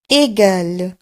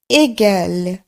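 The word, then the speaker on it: égal: সমান চিহ্ন, সেটিকে আমরা বলবো এগাল এগাল।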